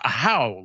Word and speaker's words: Ahau: I didn't know it was pronounced Ahau, like you're yelling, until learning it from the publisher.